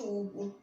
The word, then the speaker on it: Hugo: H mais U faz U de Hugo.